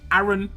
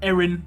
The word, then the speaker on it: Aaron: at is going to be aaron or aaron or erin depends on where you were from where how you pronounce it but it's aaron in the uk the majority of the